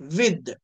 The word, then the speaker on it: with: విత్. దీన్ని విత్ అనొచ్చు, విత్ దాలా పలకచ్చు అండి, తాలా పలకచ్చు, రెండు కూడా కరెక్టే.